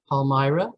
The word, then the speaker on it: Palmyra: three active branches in kent district kent bridge palmyra that's how you pronounce it and wabash so why did we